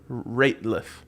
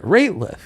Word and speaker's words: Rateliff: Rateliff, not Nathaniel Radcliffe or whatever the You Harry put a Potter T guy. in it. Rateliff.